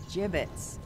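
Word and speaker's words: gibbets: Avery had some gibbits left over. Jibbits. What? It's pronounced jibbits.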